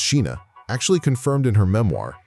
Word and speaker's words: Scheana: Scheana Shay, pronounced Sheena, actually confirmed in her memoir, My Good Side, that she hooked up with Shane West too.